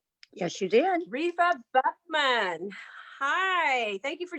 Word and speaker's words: Repha: be talking about that today her name is rifa did i pronounce that right yes you did rifa buchmann hi thank you for joining us today